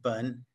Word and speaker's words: 本: In fact, it's pronounced bun and it means a tree root.